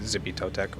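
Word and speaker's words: Xipe Totec: It's I just usually say Zippy Totec or the flayed one. I think X's are like CH noises or Chippy something.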